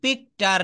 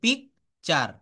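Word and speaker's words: picture: টি এবং ইউ মিলে এখানে চ হবে পি আই সি টি ইউ আরই পিকটার নট এটা হবে পিকচার কি হবে বলুন পিকচার ও ইউজি এইচ দেখেন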